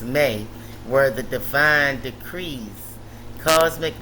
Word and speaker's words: Me: The Me, pronounced May, were the divine decrees,